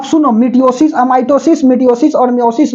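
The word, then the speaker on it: meiosis: में अगला आता है मयोसिस एमओ एम य आई एस आई एस मयोसिस spelling को नहीं देखना है और यह हो गया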